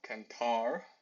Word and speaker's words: cantar: In general, words ending in a consonant are stressed on the last syllable. So, cantar, cantar, the last syllable there.